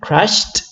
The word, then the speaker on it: crashed: The pronunciation again is with T, crashed and crashed.